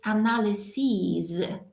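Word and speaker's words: analyses: and it's analysis and look at the pronunciation the ending is CIS analysis and when it's plural you can see that final I changes into e and look what happens in the pronunciation it's analyzes and we have to say C's at the end because it means plural we don't like it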